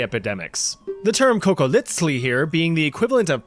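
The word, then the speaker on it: cocoliztli: If you watched my video about surviving the Aztec Empire, you know that funny little TL pronunciation, the sound, is on purpose.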